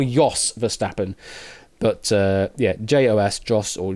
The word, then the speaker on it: Jos Verstappen: Yeah, it's more, you pronounce it more Jos Verstappen, but yeah, Jos, Jos, or Jos Verstappen.